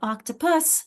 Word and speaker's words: octopus: But octopus, notice I'm swallowing that and it's a very weak syllable, and it becomes more of a schwa sound, which we'll talk about later.